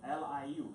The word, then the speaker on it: Liu: We pronounce the family name first. Liu is my family, L-I-U, Liu.